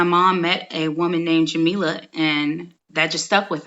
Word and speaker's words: Jamilah: people to look for what's that stays neck jameelah okay a little different than what I